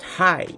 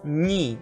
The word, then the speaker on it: ні: But don't be confused. It's not hi. It's ні. Remember that in Ukrainian the letter that looks like H is pronounced like N.